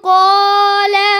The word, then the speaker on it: قالوا: इन्नल्लाह यअमुरुकुम अन تذبحوا بقرة قالوا أتتخذنا तो बच्चों قالوا में कौन सा रफ साइलेंट है? अलिफ आधा बताए। अलिफ जमा का, अलिफ ये हमेशा साइलेंट होता है।